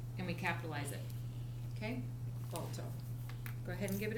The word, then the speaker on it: Balto: Balto. 2. So ball, toe. Okay. So we got. Sounds like toe. Yep. Ball, and then toe.